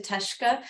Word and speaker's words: Teshika: The way I talk about it is that it looks like Teshika, but the I is silent, so two syllables.